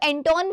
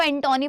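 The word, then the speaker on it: Antonie: अब तक भी बहुत सारे टीचर्स इसको एंटोनी पढ़ाते हैं, but that is एंटोनी, एंटोन नहीं है, एंटोनी है, एंटोनी, ठीक है।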